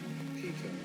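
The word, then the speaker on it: Pekoe: me just have a googly glue um pronunciation Pico Pico apparently according to thing Orange Pico which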